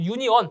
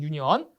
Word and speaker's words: 유니온: 그 유니온 또는 뭐 유니온 다 됩니다 영어 발음이 있기 때문에 유니온으로 하셔도 되고요 아니면 유언이라고 해도 상관없습니다 유니온 또는 유니언 그다 5번 자 다섯